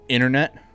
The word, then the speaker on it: internet: So ever since the word internet became complex American accents, don't pronounce the T in the middle of the word. Oh, internet.